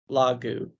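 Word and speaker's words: λόγου: Google it's ah Omicron lagu Lagoon it's like ooh like in soup Lagu what case is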